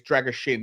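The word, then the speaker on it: Drăgușin: Drager Shin apparently it's Drager Shin I figured out the S is pronounced with a h but um the point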